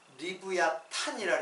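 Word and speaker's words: לִוְיָתָן: 이거 리워 야단인데 어 그 발음 자체는 히브리 발음을 리부야 탄이라 그래요 리부야 탄 그리고 어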